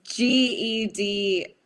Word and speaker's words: Gedi: Mom wants to know who Yeti is. So it's not. It's Gedi. Yes. The G is pronounced as a Y.